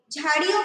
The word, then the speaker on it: झाड़ियों: घनी झाड़ियों, ओके, झाड़ियों को अंडरलाइन करो। ओके, मैंने झ लिखा यहाँ पे, मैंने प्रोनाउंस क्या किया इसे?